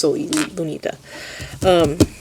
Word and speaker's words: Lunita: I'm sorry, I've been saying it wrong. I just know it is Lunita.